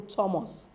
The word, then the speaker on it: Thomas: of the or why there are Exceptions there are some words with th especially names that don't um sound as or the rather they sound as T example Thomas is not thus rather